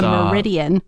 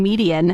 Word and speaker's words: median: But you always call it a meridian. No. Do I? Yes, you do. What? No. And so whenever we have a conversation on air where you're talking about the meridian, if I say it correctly, then you just like unconsciously switch to saying median. I go back and forth? You go back. As soon as you hear it right, you're like, median.